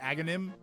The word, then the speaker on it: Aghanim: So it's funny seeing people have trouble pronouncing his name when it's clearly Aghanim, like you're doing.